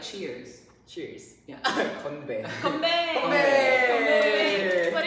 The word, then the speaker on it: 건배: Konbae.